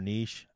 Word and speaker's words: niche: So like the best I never thing, know how to pronounce that word. Is it niche or niche?